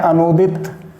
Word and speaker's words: अनूदित: ऐसे ही अनूदित अगर आप सही उच्चारण करेंगे तो बिल्कुल सही लिखेंगे, लेकिन कुछ लोग छोटे ऊ की मात्रा लगा देते हैं, वो गलत होता है अनूदित शब्द ये सही है।